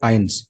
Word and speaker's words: eins: So here you can see EI sound. EI combination of the letters. So it is always I. You know it.